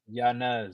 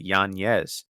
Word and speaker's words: Yanez: Yanez. No, no, no. He's issued a correction. He said that he pronounces it Yanez.